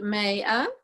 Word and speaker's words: Maya: Her name is pronounced Maya.